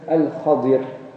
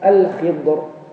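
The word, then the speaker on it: الخضر: Par contre, dans le hadith, c'est mentionné, il s'agit de Al-Khadir, ou encore prononcé Al-Khidr. Et certains enlèvent aussi le Al devant, Khadir ou Khidr. En ourdou, on a l'habitude de dire Khizar.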